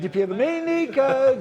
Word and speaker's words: DiPierdomenico: I'm DiPierdomenico, DiPierdomenico, ho ho.